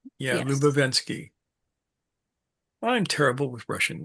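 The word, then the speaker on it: Ouspensky: Then we're gonna mention Prince Yuri Lovachvski played by Terrence Stamp in the movie. Did a great job of it. Lubenski. Yeah. Lubenski.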